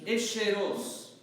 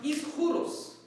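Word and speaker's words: ἰσχυρός: We pronounce this word in church, Isheros, mighty. From Agios, Otheos, Agios, Isheros, right? This is a Greek word that means mighty. It's supposed to be pronounced Ischuros, first of all, which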